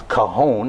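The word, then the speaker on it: cajón: The three of you, Lou playing a cajon, that's the proper pronunciation of it, right?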